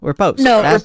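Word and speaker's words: riposte: attack and the uh reute re is it reute spell it r i p o s t oh reposit or repos thank you repost the word repost um yeah he was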